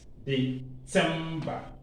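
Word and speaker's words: Dezember: You remember Z is pronounced T-S. December, December.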